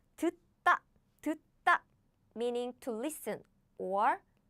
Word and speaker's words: 듣다: It becomes 듣다 when we pronounce it. 듣다 when we pronounce it. So this becomes this, double. This becomes double. I see. So do you get it? So when there are two same consonants bumped each other, the later one becomes double.